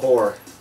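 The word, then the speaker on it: Hoar: I call whore. Whore. Whore wins. It's true. This is a real thing. For those that don't know about that game, it's in there. A sand person named Whore. Yes. It's spelled H-O-A-R, but...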